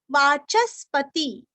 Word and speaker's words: वाचस्पति: वाचस्पति च के ऊपर आघात वाचस्पति रयो निजहा यो निजहा नीरस्व।